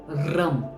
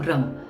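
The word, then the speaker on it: रं: है ये है ओम रम आर ए एम रम देखिए आप जैसे ही इस वर्ड को उच्चारण करोगे इस बीजक्षरा करोगे आप देखना आपके टंग में एक फ्रिक्शन होता है र रम यह फ्रिक्शन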